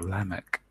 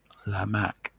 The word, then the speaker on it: Lamech: then you get to lemak which is or Lamech it's actually the western pronunciation birds we know there wasn't any ease so it was an I sound lemak and he was the